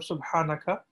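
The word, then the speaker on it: سبحانك: but just, you know, try to pronounce Subhanaka, the H of Subhanaka, from your throat, right?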